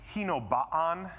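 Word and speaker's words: Hinobaan: He kept I believe and we're like but Hino Baan is how you pronounce that.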